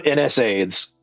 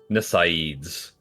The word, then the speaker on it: NSAIDs: Or I call them NSAIDs.